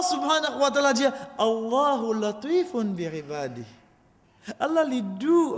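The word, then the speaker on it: لطيف: Allah subhanahu wa ta'ala dit latif. Latif. Le mot même, al-Latif, et d'ailleurs nous venons avec ça nom là, Inch'Allah. Latif, prononcez, chers frères, Latif. Mot la même doux.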